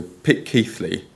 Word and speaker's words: Pitceathly: Uh, and the name should be typically pronounced phonetically as pit as in pit, key as in C, and flee as in flea. So, pick key flea.